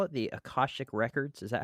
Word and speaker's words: akashic: do you what do you call it the acostic records is that how you pronounce it yes akashik yeah akashik is that people that believe that you can